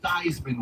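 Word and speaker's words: Theismann: Joe Thyman was a late round draft pick. names rhyme that rhymes with Heisman.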